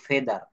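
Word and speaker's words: feather: এফ ই এ টি এইচ ই আর এটার উচ্চারণ করবো ফেদার ফেদার ফেদার শব্দের অর্থ হচ্ছে পালক ফেদার শব্দের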